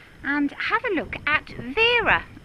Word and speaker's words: Vera: have a look at Vera or pronounce birra birra blower yes so right